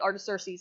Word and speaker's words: Artaxerxes: So it took me a while to get Artaxerxes, and that is how you pronounce it, but he was only